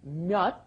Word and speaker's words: 몇: It's pronounced just as a closed off D, 몇, because it comes as a 받침 without and ㄹ in front of it.